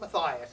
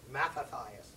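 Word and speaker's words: Mattathias: has a father named matathias it's not Mias it's matathias I don't know why they put the extra syllable in it his father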